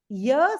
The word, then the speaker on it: ihr: And this IHR, the last one IHR, this is pronounced like the English word YEAR. How do we pronounce YEAR? Ear. Ear. This is how IHR is pronounced. Ear.